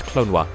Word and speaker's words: Klonoa: so it's actually pronounced clone wah so the oh actually behaves more like a we could use wind below game Ludwick it works more like a w so it's Claude well